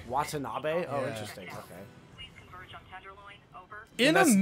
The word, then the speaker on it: Watanabe: I thought I always thought that's how you pronounce it it's not autonomy it's Watanabe Watanabe oh interesting okay it is definitely a Japanese